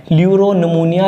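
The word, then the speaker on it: pleuropneumonia: पी से ल्यूरो मतलब ये साइलेंट होता है, PL से शुरू होता है, ल्यूरोनमूनिया लाइक ऑर्गेनिज्म।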